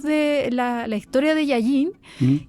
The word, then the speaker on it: Llalliñ: arañas pero el término y aquí lo voy a pronunciar como se dirías que yayin así es la pronunciación como de yayin como yayin yayin que es como la